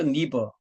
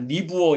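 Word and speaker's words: Niebuhr: 반드시 들어가는 그 리처드 니버이 니버의 발음이 안 돼 가지고 옛날에는 아, 니브어 이렇게 했었거든요. 네. 요즘은 니버라고 합니다. 니버. 리처드 니버 라인홀드 네버 형제죠.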